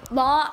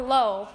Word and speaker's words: Lowe: If you guys want to pronounce it Law or Low, if that's okay. I pronounce it Low.